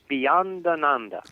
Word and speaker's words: Bhayananda: Bhayananda. Beyond Ananda.